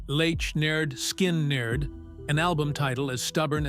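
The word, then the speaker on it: Lynyrd Skynyrd: Pronounced Lech Nerd Skin Nerd, an album title as stubborn as the band itself, hit the shelves.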